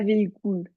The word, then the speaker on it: véhicule: véhicule véhicule véhicule véhicule pas véhicule le U c'est u ok oui véhicule tu sais